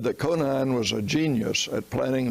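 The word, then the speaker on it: Conein: of being an operation planned by conan or some pronounce it conan records exist that conine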